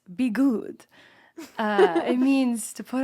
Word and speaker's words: Bi'Gud: But he was like it's pronounced be good.